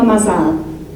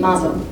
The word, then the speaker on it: mazal: I had no mazal, that's a Sephardic pronunciation, mazel, as most people say, luck.